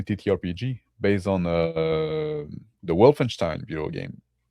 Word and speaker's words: Wolfenstein: Wolfenstein. Okay. Yeah. Wolfen. Yeah. The way you said is probably more correct, but the way Americans say it is Wolfenstein.